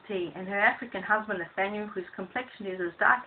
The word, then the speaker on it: Nathaniel: His cousin Marie sips her cup of tea, and her African husband Nathaniel, whose complexion is as dark as the ace of clubs and whose name rhymes with Daniel, thinks the little one is ace.